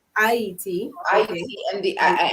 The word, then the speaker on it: Haiti: So, in the dialect of Creole or French Creole, what we speak on the island, you would pronounce Haiti as Haiti, Haiti.